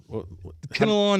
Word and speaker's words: Kinnelon: it was mindblowing you know where is that kenalan is in Mars County it's spell it k i n n e l o